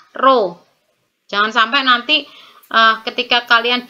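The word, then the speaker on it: ρ: satuan SI m g yang kayak P itu ya itu bacanya roh jangan sampai nanti ketika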